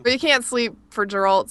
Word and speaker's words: Geralt: why I call him I said his name wrong again whatever Gerald it's geralt yeah I don't know